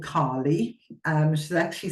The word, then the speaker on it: Kaali: bit okay so there is an asteroid called Carly um she actually spelled with double a k a l i and